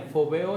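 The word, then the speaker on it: φοβέω: La palabra respete es fobeo, con acento en la E, fobeo, y es alarmarse, atemorizar, reverenciar, quedarse asombrado y temeroso.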